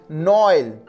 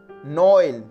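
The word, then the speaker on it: Noël: So for this pronunciation, egoist, egoist means selfish, and Noel, Noel, Noel, Noel, it means Christmas.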